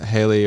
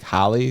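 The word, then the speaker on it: Halley: Um but the the Haley or Okay, I've always heard it's Haley's comment, but the guy giving the talk is like Hie. So, and it's spelled Hal's. So, I don't know if that's an Americanism. It might be. So, we'll say Hi because we're British.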